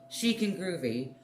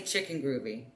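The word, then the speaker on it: Chic & Groovy: thank you for pronouncing the name correctly chic and groovy most people say chicken groovy so i'm really glad that you did pronounce it correctly so thank you thank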